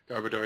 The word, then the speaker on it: Garbodor: Gerbalor. Garbodor. Yeah, garbador.